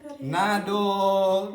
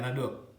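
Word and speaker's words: 等: Bacanya nado. Ya kan terangnya juga nado atau apa ini? Ya nado.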